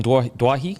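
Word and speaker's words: Doueihi: duahi I think it's Dwight that's what he said I think it's Dewey they sit on The Telecast yesterday that he wants it pronounced Dewey because that's how it's pronounced for his father yeah because I had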